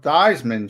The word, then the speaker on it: Theismann: Joe Theismann changed it to rhyme with Heisman, but he didn't win the Heisman.